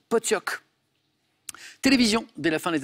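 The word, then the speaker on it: pottok: Ça s'écrit Potok, mais ça se prononce exactement comme Paul l'a dit, Potioc.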